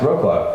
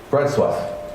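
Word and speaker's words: Wrocław: city sounds like Wroclaw or it should be pronounced Wroclaw right but I've learnt that it's one of my first things here bread swap so now the reason I bring that up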